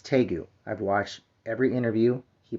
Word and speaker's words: Tagoe: Now, if you're wondering how you say his name, it's Tagoe. I've watched every interview. He pronounces his own name, Tagoe.